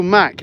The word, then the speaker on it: Mak: Yeah, so Mac, it's not actually spelled that way, Vlad. It's M-A-K, but it's the same pronunciation.